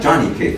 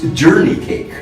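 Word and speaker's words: johnnycake: The way he spoke, and he steps in and he says, "It's really not Johnny cake, you know." He says, "It's the way we pronounce it. It's journey cake."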